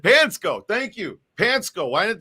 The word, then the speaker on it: Panczko: about the pansco brothers that's how they say it's how it said pansco thank you pansco why